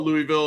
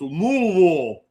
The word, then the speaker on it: Louisville: who said, uh, he always got corrected for Louisville and he said, I don't have enough marbles to jam into my mouth to say it correctly. And he's not wrong because they always say, "No, no, it's not Louisville. It's Louisville."